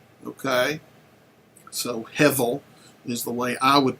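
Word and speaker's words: הֶבֶל: that is the word Hebel or Hevel, depending on how you pronounce your Hebrew. The B is oftentimes by many people pronounced as a V, okay? So Hevel is the way I would pronounce it.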